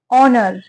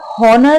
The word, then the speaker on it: honour: लिए है यहाँ पर, ऑनर, ठीक है। इसे आप हॉनर नहीं पढ़ेंगे, इसमें जो एच होता है ना वो साइलेंट होता है, ठीक है। तो HONOUR, इसको हम ऑनर ही पढ़ेंगे, ठीक है।